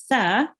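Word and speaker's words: ث: Now make sure when reading tha, it's pronounced really softly. When your tongue is touching the upper teeth, the middle upper teeth, and just like just a little bit like the tha.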